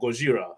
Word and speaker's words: Gojira: The Kong was weird, but the Godzilla one looks really good, or Gojira, how they say it.